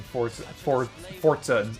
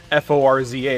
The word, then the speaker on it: Forza: It's Italian. Oh, okay. It's not necessarily a T. It's not a Forza. It's more of like a is it a glottal stop?